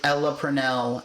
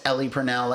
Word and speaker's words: Ella Purnell: So I'm sorry that I have pronounced We're sorry. Ella Purnell as Ellie Purnell every now and then.